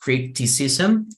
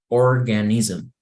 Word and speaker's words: criticism: constructiva okay and so here just the word is pronounced criticism just a similar words like organism organism um I don't know I can think of other ideas but yes when you have this SM you have to imagine that you have an e in the middle of the S and the m so you can pronounce criticism organism okay so it's like a small e in the middle of those two letters okay any questions here